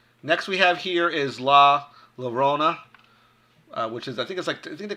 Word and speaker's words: La Llorona: La Llorona. That's how it's pronounced. La Llorona.